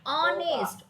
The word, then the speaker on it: honest: तो dash ऑनेस्ट मैन यानी एन ऑनेस्ट मैन, क्योंकि एच का साउंड, एच आपका कॉन्सोनेंट है, बट ये प्रोनाउंसिएशन क्या दे रहा है? आपका वाउल वाला दे रहा है। कौन सा दे रहा है? कौन वाउल का आपको दे रहा है? ऑनेस्ट, ओ का, ऑनेस्ट मैन, इसीलिए हमने लगाया एन, ठीक है?